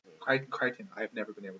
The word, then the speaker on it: Crichton: that made me remember Michael Crichton the rhymes with frightened yeah so yeah you